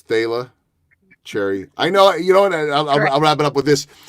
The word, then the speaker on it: Thalia Cherry: again let's let's make sure we get the pronunciation right I did get it right it's Tayla cherry I know you don't know I've been up